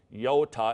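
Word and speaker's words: iota: Yoda, this is one of those shorter ones, I sound, so this is an I, yota, as in tip.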